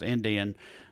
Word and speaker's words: NDN: like the indium ndn the letters ndn but pronounced indian uh yeah i hatch